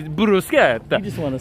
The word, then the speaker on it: bruschetta: you did but then i had someone teach me the proper way and now i really impress the server when i say i will have the bruschetta i just want to